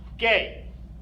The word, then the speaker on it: G: letter for some reason the letter G is pronounced gay yes hahhaa funny funny